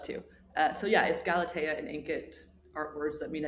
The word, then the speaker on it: Galatea: You got to throw that the accent on on there, you Gal Galatea, which is I believe the num like the number one reading app in the app store right now, which is insane.